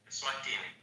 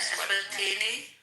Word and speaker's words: Eswatini: Swatini. Wait. Swatini. Swatini. Yeah, that's right. Yeah, Eswatini. Eswatini. Eswatini. The former pronunciation, Nancy.